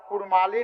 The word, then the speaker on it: कुड़माली: के रूप में एवं इनके मातृभाषा नाम का उच्चारण कुड़माली नेगा चारी जैसे शब्द प्रयुक्त होते हैं वही